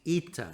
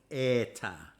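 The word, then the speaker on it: ἦτα: air but an e it's ita it's not eta me orlon note that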